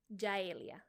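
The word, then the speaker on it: Yaelia: those who cannot pronounce my birth given name which is jaelia and it's spelled y a e l i a j e lia and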